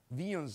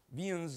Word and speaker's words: Wien: First principle is known as Vian's law. He's a German uh physicist and you pronounce it V with a V. Vian's law even though it's uh written as W.